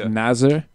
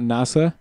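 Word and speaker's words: Nasr: most of the commentators they've gotten really careful about pronouncing the r yeah really pronouncing it as nazer na nazer not NASA it's it sounds a lot a lot the same and Marcus Erikson again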